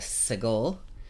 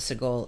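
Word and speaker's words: segol: underneath is the sigil the sound of the sea goal is short e like met a so if we put our Segel in where it belongs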